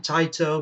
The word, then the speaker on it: Taito: it's a title game or tato or tater or however you want to pronounce it i pronounce it taito because that's how it's supposed to be pronounced but yeah that's power